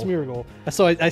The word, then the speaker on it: Smeargle: way I have the smle smeargle smeargle that's so I said it right the first